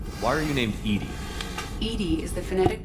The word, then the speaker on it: EDI: is a joke why are you named edie edie is the phonetic pronunciation of e d that is an acronym